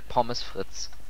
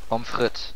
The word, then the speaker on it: Pommes frites: Mal eine liessen gar Pommes Fritz wieso hast jetzt gerade so ausgesprochen Pommes frites du hast nie Französisch gelernt pomfrit doch pomfrit ja ja nee nur